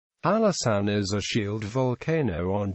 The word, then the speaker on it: Hallasan: as Mount Oakland halaan is written in North Korea in show sule as if it were hanesan however it is still pronounced his halasan in the past halasan